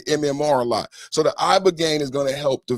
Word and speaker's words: ibogaine: Ibogaine. Body. Ibogaine. Rogaine with an ibo.